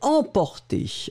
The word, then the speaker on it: emporté: moi ma prononciation en souvenez vous m c'est une nasale il n'y a pas de voyelles après donc c'est vraiment une nasale c'est exactement comme eux n à nc en nasale pas de haine en après